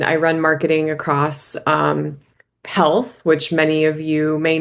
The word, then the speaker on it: HLTH: run marketing across um health which many of you may know if you're in the healthcare industry um HLTH but we call we actually pronounce it health and Vive.